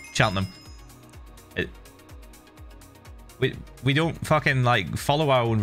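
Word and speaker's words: Cheltenham: we just say Birmingham sheltonham is said chelham we we don't [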